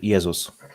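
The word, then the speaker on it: Jezus: worked for me yeah and Polish language in Polish language it's it's yesus yesus yeah stronger a z not s okay okay let's start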